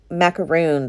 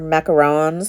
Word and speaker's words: macaron: that's what those um macaroons i'm gonna are macarons how do you say that i always say macaroon and i know it's wrong but macaron i sound like